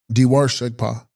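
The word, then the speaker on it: Dewar Shegpa: Text: Dharva Shegpa, pronounced Diwar Shegpa, Sanskrit Sugata, literally meaning those who have passed into happiness or attained nirvana, i.e., Buddhas.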